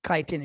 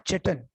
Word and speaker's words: chitin: दूसरा, यस काइटिन, शाबाश, नॉट चिटन। बहुत सारे लोग इसको चिटन बोलते हैं, विच इज प्रोनाउंसिएशनली गलत है, काइटिन कहलाता है।